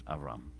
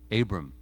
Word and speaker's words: Avram: And his name, he's introduced to us as Avram. Abram in English or Western pronunciations.